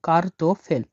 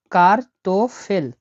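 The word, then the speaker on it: картофель: এটা উচ্চারণ হবে না। তাহলে কি হলো? কার্তোফেল।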